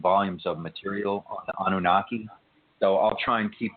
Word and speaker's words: Anunnaki: He's obsessed with them kind of a little bit, and he's asked about the excuse me if I pronounce this incorrectly, the Anunnaki. Is that right? The Anunnaki.